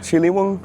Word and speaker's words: Ciliwung: We've come now to a bit more south of the city of Jakarta, and right now we're next to the Ciliwung River, if I'm pronouncing it right.